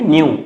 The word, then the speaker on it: nu: इट is usually represented by न्यू, Greek letter pronounce कैसे करेंगे, न्यू, NU.